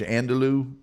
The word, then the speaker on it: andouille: How do you pronounce the sausage? Andouille?